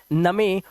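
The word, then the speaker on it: gnome: ऐसे ही जी एन। एन से पहले जी है। इसे पढ़ते हैं नोम।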